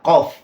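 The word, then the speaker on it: ق: Kaf Kemudian yang kedua huruf q itu memiliki sifat istilla arti dari istilla itu Alul wa irtifa maksudnya tinggi dan terangkat maksudnya pangkal lidah itu diangkat makanya tebal ya qof qoqi qubaqo kemudian kalau Kaf sendiri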